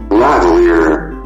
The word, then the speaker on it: lavalier: Yes, I find a YouTube video of it pronunciation. Lavalier.